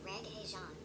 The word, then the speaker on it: Regé-Jean: It's pronounced Regé-Jean P A G E P A G E Page. Regé- First name is sounding like the music genre.